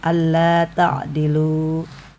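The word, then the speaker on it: ألا تعدلوا: Ini bacaan alla tadilu ya. Ketika di wakafkan itu panjang alla tailu. Nah, kalau ketika diwasolkan atau diteruskan itu langsung alla tadiludilu. Jadi alifnya hilang gitu ya.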